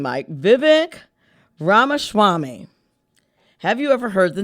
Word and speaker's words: Vivek Ramaswamy: Vivek, let me make sure I pronounce his name, Mike. Vivek Ramaswamy.